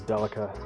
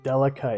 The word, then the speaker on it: Delica: Granted, it's 19 grand for a 30-year-old car, but I didn't understand that the name Delica is just the Japanese pronunciation of daily car.